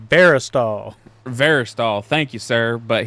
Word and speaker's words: Verastahl: Veristol.